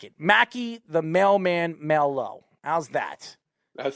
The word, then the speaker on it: Maillho: I'm going to call you the mailman because I like your last name, Maillho, and he pronounced it as Maillho, so that's how I know you.